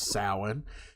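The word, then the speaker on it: Samhain: the ancient Celtic Festival known as Salin pronounced as Salin um the celebration also took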